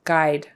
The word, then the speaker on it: guide: Guide. Forget the U. It's a long I.